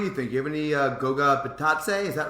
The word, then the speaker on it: Goga: You have any Goga Batatse? Is that right? Thoughts? I've seen people say it as Goja, so I'm going with Goja.